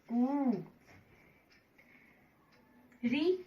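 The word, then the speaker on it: कृ: बड़े ऊ की मात्रा कु, री ऋषि वाले की मात्रा क्री। उच्चारण पे ध्यान दें। जब हमने री ऋषि की मात्रा लगाई तो हमने बोला क्री।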